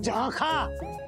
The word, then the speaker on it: झांखा: अरे ताक झांक वाला झांका नहीं, झांखा।